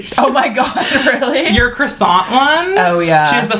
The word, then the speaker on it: croissant: what did you say I said croissant but it's croissant yeah but I was